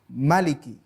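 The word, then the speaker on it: مالك: jangkrik itu membacanya pendek Maliki tidak Maliki Hai namanya varian bukan perbedaan istilahnya adalah multiple reading perbedaan dalam pengertian varian bacaan kita boleh membaca dengan Malik panjang atau Maliki dengan bacaan pendek Hai tapi intinya bahwa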